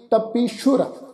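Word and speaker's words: ਤਪੀਸੁਰ: कई कोट तपीशुर होते, ये जिहड़ा शब्द आ जी तत्ता पप्पे नूं बिहारी, सस्से दे पैर विच औंकड़ लगा हुआ है अगे रारा अखर, सस्से दे पैर विच जिहड़ा औंकड़ है उसका असी उच्चारण करने गल ख्याल विच रखो, अते सस्से नूं जिहड़ा वा बिंदी लगा के उच्चारण करांगे, सस्से दे पैर च बिंदी लग के उच्चारण होएगी तपीशुर, असल विच जिहड़ा शब्द आ उह आ जी तपीश्वर।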